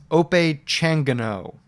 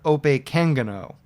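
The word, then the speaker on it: Opechancanough: It's Ope Changano. That's one pronunciation. I've also heard Ope Kangano. And I think that's where the emphasis goes, and I think I'm saying that right based on what I've heard.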